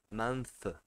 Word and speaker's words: month: Para ficar fácil de entender a maneira de pronunciar, né? Então, month, month, month, né?